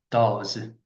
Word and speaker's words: does: Does 음. 어, 요걸 도스라고는 친구도 있던데. 그러면 안 돼요.